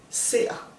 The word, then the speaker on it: ser: Like for example, I see, jeg ser. You hear it's the ser. It's got a glottal stop on the E, but the R kind of disappears and becomes this sound.